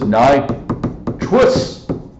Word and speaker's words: nitrous: This is nitrous acid. Nitrous. We don't say truce. Okay, I'm trying to overpronounce the us.